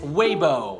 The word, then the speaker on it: Weibo: Believe it or not, it's Weibo.